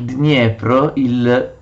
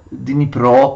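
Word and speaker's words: Дніпро: Askold e Dir, sono nomi svedesi, discendono il Dniepr, Dnipro, così lo pronunciano gli ucraini, e conquistano la città di Kiev.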